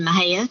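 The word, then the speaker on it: Mexia: i grew up in mahea texas that is failed in the xia so pronounced not anything like it is spelled was you know like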